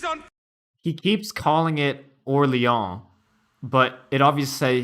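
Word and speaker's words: Orléans: um but they don't call it orleans there or lyon is the french pronunciation uh so they're they're they're using orleon is the uh the french pronunciation of orleans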